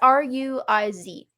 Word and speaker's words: Ruiz: Miguel, and then I don't know how to say it, Ruiz? It's Ruiz.